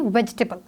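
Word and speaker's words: vegetable: वो total three हैं क्योंकि हम इसको प्रोनाउंस करते वक्त बोलते हैं वेजिटेबल तो ए जो है उसके साउंड नहीं आई है थॉट्स वही वे हैव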